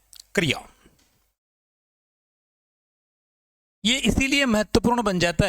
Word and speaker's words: क्रिया: इसमें क जो है वो स्वर विहीन है और यह जो इ की मात्रा है यह र पर लगी हुई है। र पर लगी हुई है। तो इसका शुद्ध उच्चारण होगा क्रिया।